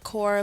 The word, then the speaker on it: Core: It has the same sound as core, like heart in French.